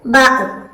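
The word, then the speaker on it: ب: 2 ചുണ്ടുകളും ചേർത്ത് വെച്ച് മീം, ബാ ഉച്ചരിക്കാം. 2 ചുണ്ടുകളും ചേർത്ത് വെച്ചിട്ട്. അപ്പൊ അതിന്റെ ഉച്ചാരണം മനസ്സിലാക്കാം. മീം, മീം. അപ്പൊ അത് 2 ചുണ്ടുകളും ചേർത്ത് വെച്ചിട്ടാണ് അത് നമ്മൾ ഉച്ചരിക്കേണ്ടത്. മീം. അതുപോലെ ബ.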